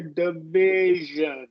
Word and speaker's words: division: we before the uh it is a short I div you could do a schw here division right we are going to do a short and so it sound a little bit like a long e so division Collision let's